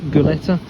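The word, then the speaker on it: Gulati: There is also the Hunt formula, the Goleta, I think it's pronounced Goleta, and then there's the Tanaka formula as well.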